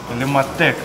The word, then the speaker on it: Illumatec: Illumatec, правильно говорить.